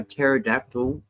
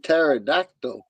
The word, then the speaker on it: pterodactyl: can't you hear a pterodactyl going to the bathroom why because the pee is silent he said pterodactyl yeah in the beginning